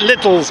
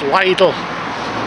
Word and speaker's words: Lidl: how to pronounce that lot of people call it Littles but I think it's pronounced Lidle something like that anyway but yeah oh